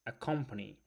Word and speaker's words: accompany: So, today's first word is accompany. Accompany is verb, and the stresses on the second syllable.